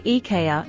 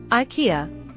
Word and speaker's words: IKEA: Well, it is a Swedish company, and in Swedish, it's actually IKEA, and English speakers say IKEA.